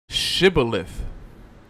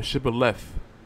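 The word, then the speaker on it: shibboleth: It was shibilith or shibaleith. I think both are proper are proper uh pronunciations which is anatomy is a a pecularity of pronunciation, behavior, mode of dress, etc.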